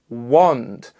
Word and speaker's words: wand: Now we also have an O sound, like in the word wand, like the wands they use in Harry Potter.